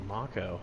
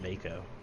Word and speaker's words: Mako: See, and I didn't know it was Mako. I always pronounced it Mako because there was no spoken word in it.